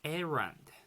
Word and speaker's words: errand: at our chat box so for this word this dress is in the first syllable so we say it as aaron erand okay that's good wrong